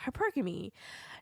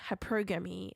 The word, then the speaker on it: hypergamy: The way to pronounce this word is hypergamy, not hypergamy. Okay.